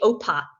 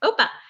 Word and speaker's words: OPA: hard installation OPA which is called it's actually OPA book pause I when I'm told how it's pronounced I'm Greek yeah OPA and it's open policy agent we brought it